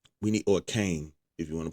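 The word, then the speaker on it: Kayn: We need a Kine. We need or Kane, if you want to pronounce his name, Kane.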